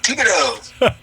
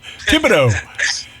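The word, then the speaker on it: Thibodaux: Tibido. Tibido. That is obviously French.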